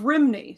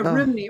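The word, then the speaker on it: Rhymney: Yeah, Rimney or Romney I think is how it would be pronounced closer to that in Wales.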